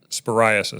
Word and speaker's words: cyclosporiasis: There's been a recent spike in cases of cyclospora sporiasis So okay. Sporiasis. Okay, now I see it. Not psoriasis.